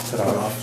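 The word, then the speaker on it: Pottorff: I'm going to introduce our new administrator, Put off, yeah. I'm sorry, your last name again? It's put off, Put off. yes. That's how it's pronounced. Yeah, it's not spelled that way.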